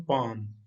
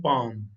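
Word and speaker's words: palm: English में कहते हैं पाम। ये एल और एम इकट्ठा आ रहा है। इंग्लिश में जब एल और एम इकट्ठा आए तो एल साइलेंट होता है, यानी एल खामोश होता है, इसको नहीं पढ़ते।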